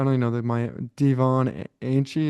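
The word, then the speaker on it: Achane: know the my Devon Anie. Is that how you say his name? I think it's Achon.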